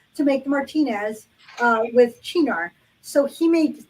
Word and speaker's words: Cynar: And one of the newer recipes calls for this particular Italian liqueur, which um, it looks like Cynar, but it is pronounced Chinar.